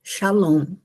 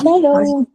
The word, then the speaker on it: Shalom: S A L O M. Shalom. É assim que se pronuncia, né? Shalom.